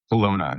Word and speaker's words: Kelowna: Kelowna.